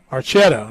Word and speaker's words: Archetta: Archetta, I believe, is how he said. Archetta is how he said he pronounced that name.